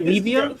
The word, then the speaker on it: Levia: What I wish I'd started when I started the channel was pronouncing it Levia, like stevia.